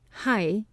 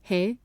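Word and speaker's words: はい: In all places lately, hai, yes, has been pronounced he, chi, na, ne, to Ito's great contempt. It sounds like an expletive or interjection rather than a response, and seems used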